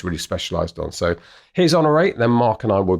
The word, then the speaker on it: Honoree: I think I've called her Honoree quite a lot in the interview, but then that's because most of the time you don't get an accent on the E for whatever, the email doesn't translate it. But I did see there was an accent on the E somewhere, so it's she very politely had never corrected me, but it's Honoree Corder.